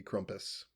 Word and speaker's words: Krampus: Is it Krampus or Krampus? German pronunciation would be Krampus.